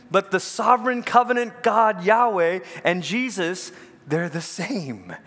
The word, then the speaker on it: Yahweh: spell in public y-h-w-h it's the name we pronounce as Yahweh but they wouldn't let themselves say that name